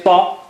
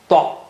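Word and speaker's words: ط: How do you say ta? Thicken your tongue and touch to the upper gum. Ta.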